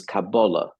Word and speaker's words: Kabbalah: audience I'll try um the word cabala which is the modern Hebrew pronunciation angiz and the more colloquial pronunciation of older times is cabala but I'll use the modern one cabala just for the sake of being consistent here um comes from the